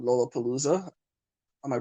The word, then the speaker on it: Lollapalooza: When you did that, is it called Lollapalooza? Am I Oh pronouncing yeah, correctly?